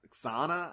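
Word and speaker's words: Xana: how you pronounce it it's x-a-n-a sauna i think is how he pronounces it and we he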